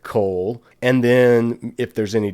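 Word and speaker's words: קוֹל: to transliterate it coal how to pronounce it cole and then if there's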